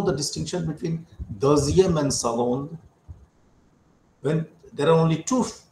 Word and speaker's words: second: But if there are only two, then we'll say le second garçon. Now look at this, the way this sound sound is being pronounced. Normally the sound, the written letter say never represents g, but here what happens